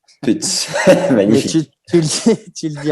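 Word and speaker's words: Pütz: Je crois que ça se dit, en allemand, ça se dit Putz. Putz.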